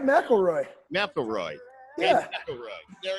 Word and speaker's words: McElroy: You said it right, McElroy.